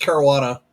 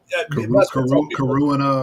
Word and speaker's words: Caruana: Uh, it's pronounced Caruana. Um, so you know, you get the obvious Karuina or something maybe. Oh, yeah. Karuna Carvana, which where the did you get that from?